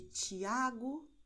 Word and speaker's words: Tiago: TS, no caso de Tiago, noite, ok? E o som é o mesmo que você tem no italiano quando você diz tchau, ok?